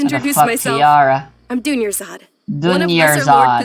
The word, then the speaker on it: Dunyarzad: Dunyarzad.